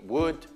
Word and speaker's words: would: Quelli più importanti in inglese, quelli più usati, would, could, should, non si pronuncia L.